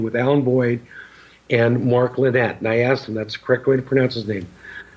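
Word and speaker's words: Linett: I did a wonderful interview with Alan Boyd and Mark Lynette, and I asked him, that's the correct way to pronounce his name.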